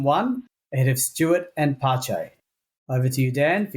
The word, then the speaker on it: Pace: F1 stuff in 1973, I thought that was pace. Yeah, we also I didn't realize the correct pronunciation was Pache.